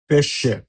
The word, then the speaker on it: pesce: pesce, P-E-P, S-C-E-C, pesce, scendere, S-C-E-sce, N-D-E-R-E, scendere, suono duro।